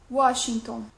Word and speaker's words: Washington: W, on prononce comme OU, Washington.